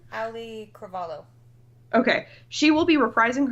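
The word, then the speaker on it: Auliʻi Cravalho: And the original voice of Moana, and I apologize if I get her name wrong, Alui Cravajo? Is that how you say her name? Ali Cravalho.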